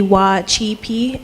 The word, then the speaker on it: Wacipi: Um for Native Americans we have the C as like a ch sound. So the correct pronunciation for Wacipi would be Wacipi instead of using the original um C sound.